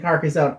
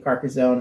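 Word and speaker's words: Carcassonne: together Celia's copy of carcassone and my copy of carcazone and we did like a marathon carcasso oh she's carcasson sorry I keep on mispronouncing it carcassan we had to stop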